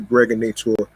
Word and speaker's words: Gregonator: This is your man and homie, aka the Gregonator, rhymes with now or later, just like the candy.